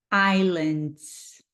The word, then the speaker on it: islands: Rico US Virgin islands você não pronuncia o s islands US Virgin islands American Samoa American Samoa